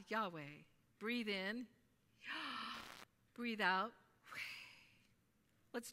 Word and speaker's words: Yahweh: the video got interesting when we take a breath it sounds like the name of the Lord God Yahweh breathe in breathe out